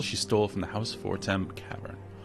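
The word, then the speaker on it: Fortemps: stole from the house form cavern. I think that's pronounced for it's very French.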